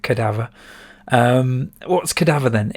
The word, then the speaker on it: Cadaver: got cadaver first uh or cadaver as i was used to say when i was little but i'm pretty sure you pronounce it cadaver um what's cadaver then